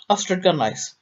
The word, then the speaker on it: Ystradgynlais: Try to get your head round YSTRADGYNLAIS, which is pronounced as nearly as I ever could get it. Astrid Gunlice.